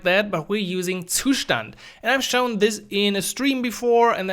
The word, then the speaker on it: Zustand: go ahead by installing two stand first of all which is by the way the German word for state so I'm going to say the German Way Tucson which is probably hard to pronounce for some other people the concept is